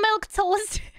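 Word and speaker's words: milquetoast: her to be a milk toast that's how you say it why is this milk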